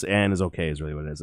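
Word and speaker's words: Annisokay: anna sock it looks really weird but it's pronounced it's and is okay is really what it is and i i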